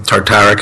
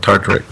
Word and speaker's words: tartaric: out by adding some malic acid or some tartaric acid or the acid blend, which has citric, malic, and tartaric.